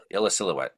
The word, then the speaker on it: Illecillewaet: It's Illecillewaet. If you just say it fast, it's not weird.